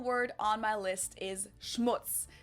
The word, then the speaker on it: Schmutz: on my list is Schmutz this one is pronounced and used the same way in both languages and it means dirt